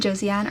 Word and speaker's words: Josianne: Josette and Josianne are two of the Americanized pronunciations of French names that are pronounced more like Jazette and Zazian, which you know, I'm not good with any of the French names, but something in that realm.